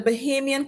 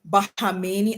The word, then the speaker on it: Bahamian: facets is that the Bahamian component and is AOC congresswoman AOC kept pronouncing it bahamini I was it learned the country's names and how to say where they're from please U.S people the